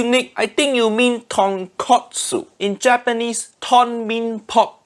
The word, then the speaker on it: tonkotsu: jackass out of myself i think you mean tonkotsu in japan ah yeah pronunciation is wrong oh all right piece of pork but katsu means cutlet so tonkatsu mean fried piece of pork that completely different thing say it properly tonkotsu tonkotsu i've already started